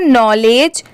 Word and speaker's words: knowledge: अब जैसे देखिए यहाँ पर KNOW, यहाँ पर इसके साउंड क्या आ रही है, नो, नौ की आ रही है, NOW नाव वाला नो, और LEDGE लेज होता है।